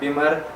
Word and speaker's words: Bimmer: बीमर जो है BIMMER बीमर pronounce होगा ग्लिमर की तरह, और जो बीमर है BEAMER ये प्रोनाउंस होगा ड्रीमर की तरह।